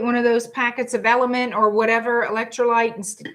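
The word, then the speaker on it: LMNT: It's called Element, but it's spelled like with the letters L M Wait, how do How is Yeah, L M N T? And you sound it out Element.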